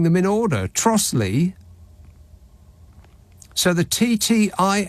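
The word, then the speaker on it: Trottiscliffe: Kent there's a village called trotus Cliff it's pronounced trotle says that message how is that possible it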